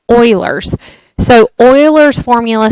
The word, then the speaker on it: Euler: I know it looks like Euler, but it's actually pronounced Euler's.